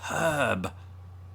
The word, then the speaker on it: herb: language um but it's herb herb although we don't pronounce the r in herb as brits either unless you're from the west country you might then and you might drop the h it was a nice